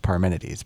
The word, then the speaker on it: Parmenides: It's pronounced Parmenides, by the way, based on an actual philosopher.